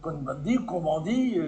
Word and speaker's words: Cohn-Bendit: Monsieur Cohn-Bendit, puisque nous sommes en France, on prononce à la française.